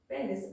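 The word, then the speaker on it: penis: अब जो 4th number पे है एक्सटर्नल जेनिटेलिया पेनिस, अब उसको समझना है। एक्चुअली पेनिस नहीं होता है, पीनस करेक्ट प्रोनाउंसिएशन होता है, ठीक है।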